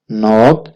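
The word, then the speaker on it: knock: D queen Dastak देना नोट Dastak silent है लिखा जाएगा लेकिन पढ़ा नहीं जाएगा सम्मोहन सम्मोहन लिसन सुनना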